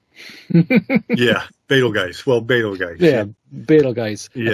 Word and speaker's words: Betelgeuse: Yeah, Betelgeuse. Yeah. That's how it's pronounced as the star.